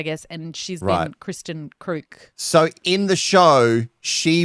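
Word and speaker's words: Kreuk: Because I always looked at her last name in the title and I was like, Crouch? Yeah. Crook.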